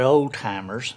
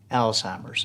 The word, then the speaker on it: Alzheimer's: that you hear mispronounced it's not old-timers right it's alzheimer's and tammy you've you've